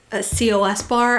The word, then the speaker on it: Cos Bar: and it was the COS bar. I think they just say Cos bar. It's kind of how they pronounce it, although I never really did get that confirmed.